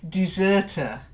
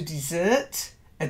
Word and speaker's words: deserter: fault no and then deserter to dessert a deserter not a deserter dessert dessert that's it good good good somebody